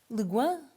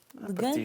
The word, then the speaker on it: Le Guin: Estava a perguntar-te como é que se pronunciava, porque a gente não pronuncia muitas vezes os nossos escritores, mas é Ursula Le Guin. Le Guin, estávamos a falar sobre como é que seria.